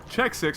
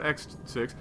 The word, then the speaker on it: xSixMkengyn: Maximus Black, Check 6, not X6, xSixMkengyn. Now that we know how to pronounce his name.